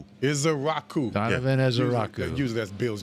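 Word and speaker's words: Ezeiruaku: Ezrau. Israaku. Donovan Ezrau. Usually that's Bill's job, but thank is a Raku.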